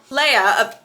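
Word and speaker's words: Leah: Leia, they say it like Leia in the movies.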